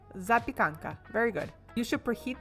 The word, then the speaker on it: Zapekanka: Za pya kan ka. Zapekanka.